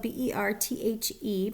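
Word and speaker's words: Berthe: It's spelled B-E-R-T-H-E, pronounced Bert. Sometimes people pronounce it Beth.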